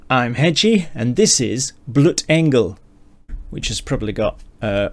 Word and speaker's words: Blutengel: noise and words i'm hedgie and this is bloot engel which has probably got uh matt blau laughing at my german pronunciation um which translates as blood angel which